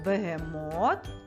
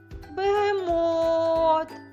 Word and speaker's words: бегемот: схемою з трьох прямокутників ще раз вимовляй слово бегемот і звертай увагу який склад ми вимовляємо довше та з більшою силою у цьому слові бегемот це склад Мот який він за рахунком цей склад за рахунком третій він є наголошеним у слові бегемот прекрасно